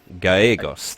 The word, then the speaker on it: Gallegos: Gallegos, thank you for the I correction. think that's how it's pronounced.